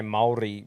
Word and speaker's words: Māori: You've got to roll the R, but I wouldn't say that to any other word. But like, I try and make an effort to say Māori, but it's Maori.